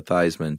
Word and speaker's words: Theismann: The very famous story of quarterback Joe Theismann who changed his spelling or his pronunciation to Thighs-man to rhyme with Heisman.